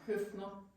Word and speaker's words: Høpfner: Høpfner.